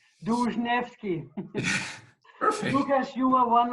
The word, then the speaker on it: Dłużniewski: me with the last name of yours, the pronunciation. Yeah, it's a tongue-breaking name. It's called Dłużniewski. Dłużniewski.